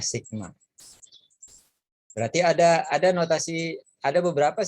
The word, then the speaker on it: sigma: Dia seperti huruf E, bacanya sigma.